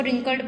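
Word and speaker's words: wrinkled: इसको रिंकल्ड पढ़ते हैं, इसमें डब्ल्यू आएगा, यहाँ पे डब्ल्यू नहीं लिख के मैंने इसका अर्थ लिखा है।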